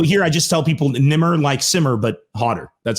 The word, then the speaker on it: Nemr: thank you man um tell everyone how to pronounce it because it's no nimr it's i i tell people it's it's actually it's nimr so my my my full name is which